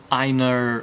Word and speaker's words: Einar: This book is about Einar, okay, Einar, hold on, I wrote the phonetics on here so I can pronounce it correctly.